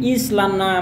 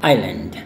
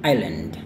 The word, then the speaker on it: island: Nah ini banyak yang salah melafalkannya dengan Islana, mau Islana, tapi yang tepatnya cuma yang ini ya, yaitu island. Once again island.